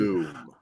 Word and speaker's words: Blum: Blum, I'll say his name properly. Bloom.